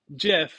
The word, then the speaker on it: GIF: is I would say GIF if I was really concerned about how to pronounce it uh because if you put a t on it you have a gift right you don't have I